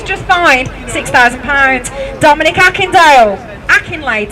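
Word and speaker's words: Akinlade: Akinade. Sorry, I'll spell it now cuz I said it wrong. AK I N L A D E.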